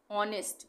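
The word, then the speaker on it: honest: ऑनेस्ट, इसको हम हॉनेस्ट नहीं बोलेंगे, एच साइलेंट है, ऑनेस्ट।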